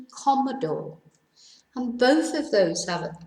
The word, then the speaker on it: cómodo: Cómodo tells us to stress the first syllable rather than the penultimate syllable, whereas in fácil, it tells us to stress the first syllable rather than the last syllable.